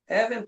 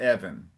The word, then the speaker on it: even: people of the land, even to the children of he. Very good. Just that la one of those last words. It's even, not Evan. Even even.